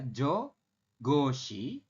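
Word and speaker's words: 저것이: Contoh yang pertama bunyinya adalah jo goshi. Ini tulisannya kan jogoti, tapi kita bacanya adalah jo goshi.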